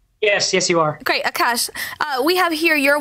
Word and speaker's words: Akash: pain and aash first of all am not pronouncing your name corly now yes yes you are great Akash uh we have here your website Akash